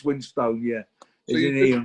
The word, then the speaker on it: Winstone: I mean, I'm as guilty as anyone else because I get lazy at times and it comes out as Winston, but it's Winstone, yeah.